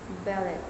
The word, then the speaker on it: ballet: Ballet, French origin, stress on the second syllable.